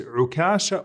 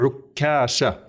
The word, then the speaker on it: Ukasha: So his name is Ukasha or Ukasha, with a shadda on the kaf.